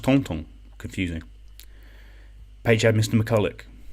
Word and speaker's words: Thornton: Leonie also had Monsieur Thornton. Was he related to Madame Bouchelet-Thornton? Pronounced Tonton.